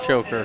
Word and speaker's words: Choker: And then another choker, Cody choker. Choker is how you say that.